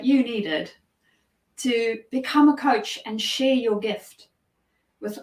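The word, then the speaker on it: Kocs: Apparently the word goes back to a town in Hungary, spelled differently, but pronounced coach.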